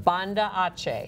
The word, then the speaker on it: Banda Aceh: Banda Aceh.